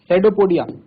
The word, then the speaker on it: pseudopodia: और अमीबा जो है, अमीबा इनटेक फूड बाय सेडोपोडिया। तो बताया था आपको, सेडोपोडिया एक मूवमेंट होता है। अब सेडोपोडिया का मतलब ये नहीं कि इसकी स्पेलिंग एस से स्टार्ट होगी, ये बात जरूर ध्यान रखना।